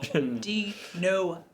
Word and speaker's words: Denuvo: They put no in their name. It's spelled N-U, but it says no. De-novo.